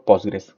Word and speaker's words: Postgres: pogre sql que realmente como su pronunciación se complica un poquito o no es tan directa eh usualmente le dice uno postgres y listo entonces dice que fue